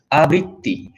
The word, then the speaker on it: আবৃত্তি: আবৃত্তি, ব্রি শব্দ মানে ধাতু দিয়ে এটা তৈরি। অতএব এইটা একটু লক্ষ্য রাখতে হবে।